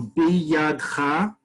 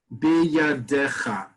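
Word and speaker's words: בידך: So biyadcha, biyadecha. Right? So the one that has the less syllables will always win in modern Hebrew.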